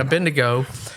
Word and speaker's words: Abednego: I probably would not sign up for, and Dad preached about it, Shadrach, Meshach, and Abednego.